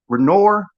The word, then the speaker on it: Renoir: fact our artist by the name of pierre renoir i'm saying his last name wrong r e n i um let me